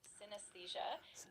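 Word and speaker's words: synesthesia: The word is pronounced synthesia.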